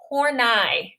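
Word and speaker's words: Horney: her last night her last name is not pronounced how you think it is it's hornai and our textbook has a has a like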